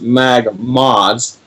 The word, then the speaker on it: MagModz: say different words so for that it is pronounced mag mods and so if you could share it and